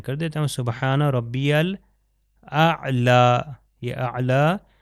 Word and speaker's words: الاعلیٰ: اسی طرح سبحان ربی الاعلیٰ عین کا تلفظ صحیح طریقے سے ہو و بحمدی.